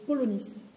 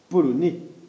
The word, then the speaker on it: polonais: Elle me rappelle une langue d'un pays lointain que je connais, le polonis. Polonais.